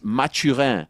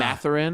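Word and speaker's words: Mathurin: So it's mature. It's not Matarin. It's a French name. It's mature. The pride of Montreal. Matur.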